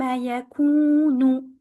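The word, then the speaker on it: يَكُونُ: The wow here, free from any vowel, is there to elongate the U sound before, the Dhamma U before, for 2 counts only. Do not make it too long.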